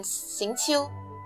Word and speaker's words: Xingqiu: Xingqiu, I think. Yeah, that's the pronunciation, Xingqiu.